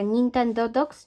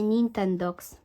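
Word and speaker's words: Nintendogs: Nintendaw, że się wymawia Nintendo Dogs czy Nintend? Okazuje się, że wymawia się Nintends.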